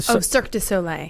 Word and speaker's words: Cirque du Soleil: Let me pronounce. Amaluna. Yeah, but the Cirque du Soleil.